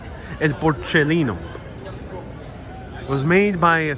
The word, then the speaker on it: Porcellino: So here is el porcellino, that's how you pronounce it. El porcellino.